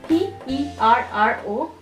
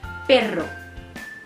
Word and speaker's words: perro: You are hitting your tongue onto your palate and it's intermittently hitting it and it's creating a vibration.